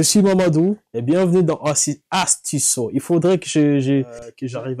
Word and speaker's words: Astuceso: Je suis Mamadou et bienvenue dans Astisso. Il faudrait que j'arrive à bien le prononcer. Astisso.